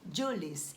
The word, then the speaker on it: Jules: aqui é Júlio Verne Mas como ele é francês a pronúncia correta seria Jules então eu achei o